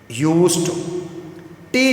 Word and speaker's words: used to: यूज्ड टे की आवाज़ के साथ यूज्ड टू, इसका स्पेशल प्रोनाउंसिएशन है।